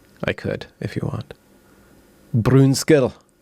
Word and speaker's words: Brunskell: And how do I pronounce Brunskell or Brunskell? It's Brunskell.